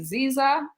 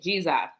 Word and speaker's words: Dzidzor: Now, tell me, is y'all are saying Ziza? Zija, like what? like DZ pronounced G. G, yeah. So G, okay, Ziza.